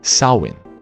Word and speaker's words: Samhain: agora tá certo no festival chamado sawen pronúncia nada a ver que era celebrado na